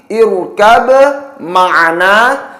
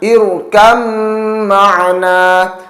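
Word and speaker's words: اركب معنا: Cara membacanya tidak lagi irkab ma'ana, namun cara membacanya ialah diidghamkan. Irkam ma'ana. Huruf ba sukun diidghamkan pada huruf mim, dan pada huruf mim tersebut berlaku bacaan gunnah atau harus didengungkan. Sehingga sekali lagi cara membacanya irkam ma'ana, bukan dibaca irkab ma'ana.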